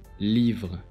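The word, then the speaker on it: livres: Notice that this S is silent in speech. Livre, livre.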